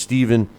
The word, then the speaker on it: Stephen: maybe Stephen Smith or stepan Smith I I it's spelled Stefan but I think uh uh his name is pronounced Steven uh Smith drops to